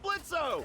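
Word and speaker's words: Blitzø: Hey, THAT SOUNDS LIKE BLITZO. THE O IS SILENT, I see.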